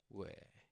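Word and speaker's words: 위: And this becomes we. All right. Okay, let's move on. And this is we. We. And it sounds like the word weak, but without the k sound.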